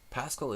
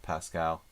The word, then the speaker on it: Paschall: Yeah, Paschall is, you know, the pronunciation of it isn't pure French. I mean, the spelling of it is not pure French. It's a bastardized version of Pascal. But the history of it I'm not really 100% sure of. And people, you know, different people might even pronounce it differently.